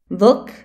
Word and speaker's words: vlk: R et L peuvent jouer le rôle de voyelles. Ça donne des mots merveilleux tels que plný, plein, prvý, premier, prší, il pleut, zmrzlina, glace, vlk, loup, krv, sang, štvrť,